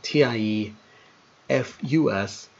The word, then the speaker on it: Typhus: His name almost always reads wrong. So, when we come So, for this example, TIE FUS is how his name is pronounced.